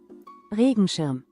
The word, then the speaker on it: Regenschirm: Regenschirm? Regenschirm? Regenschirm.